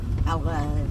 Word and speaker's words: allerede: Allerede. I was close. Allerede. It's spelled almost the same way.